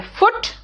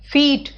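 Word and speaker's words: foot: पैर, फुट, फीट, फुट है फूट नहीं है, इट्स फुट, फीट।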